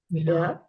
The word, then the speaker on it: Rå: so we start with R very good sounding like we're getting it yes you do so think of it like this it's like raw almost like a raw egg but not really